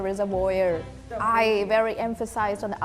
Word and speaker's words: reservoir: Reservoir? Reservoir, is it? Reservoir. Reservoir. Reservoir. So reservoir. Reservoir. Reservoir. This is like a French-based word, so In India as well.